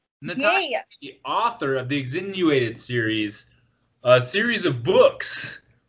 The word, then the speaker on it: Exsanguinated: Exsanguinated. Exsanguinated. Yep, like penguin is how I was described. I don't speak very well either. It was described like penguin.